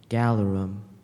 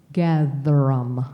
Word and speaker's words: gatherum: Galerum. Alternate pronunciation. There are none. Galerum. Galerum. Galerum. No. Gatherum.